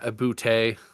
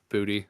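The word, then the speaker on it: Boutte: Um and then two more guys uh from the Pats here, Kahan Ibute or Booty as it's actually pronounced.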